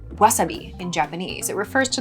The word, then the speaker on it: wasabi: This is an example of a word that has taken on kind of weird pronunciation through going into English. Wasabi is pronounced wasabi in Japanese.